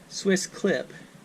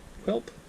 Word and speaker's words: SwissQlip: It's spelled Q-L-I-P, SwissQlip, but I'm assuming they mean clip. But it'd be SwissQlip, Quilp, Q-I-L-P, I don't know.